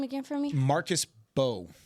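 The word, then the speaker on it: Marcus Mbow: Marcus Bow. It's spelled M''BOW, but apparently the first M is silent.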